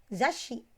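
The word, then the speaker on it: ざっし: Za dengan shi, di tengahnya ada tsu kecil, maka dibacanya menjadi zashi. Konsonan S akan merangkap ya, akan dilafalkan dengan double suara.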